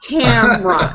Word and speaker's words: Tamara: always mispronounce my name Tamara so my husband says it's it's like Mothra Tamra and so I had